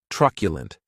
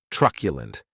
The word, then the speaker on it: truculent: The next adjective is truculent, and this word has 3 syllables, and the stress is on that first syllable.